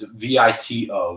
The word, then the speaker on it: Vito: I didn't really pronounce it properly. It's Vito, Vito.